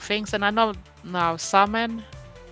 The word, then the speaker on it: Samhain: And I know now Samhain is celebrated. I think that is how you pronounce it.